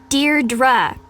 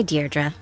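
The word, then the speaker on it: Deirdre: or something hi de dearra I know it's got that tricky second syllable but I figured it out by age two don't give up you'll get there sorry hi deardra hey now someone's getting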